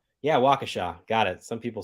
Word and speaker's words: Waukesha: Yeah, Waukesha. Got it. Some people say it like Waukesha.